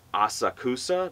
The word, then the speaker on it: Asakusa: uh and it's it's kind of spilled like Asakusa but they pronounce it like a socks ah and I went